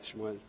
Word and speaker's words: Shmuel: How do you say that in Hebrew? Shmuel, right? Shmuel.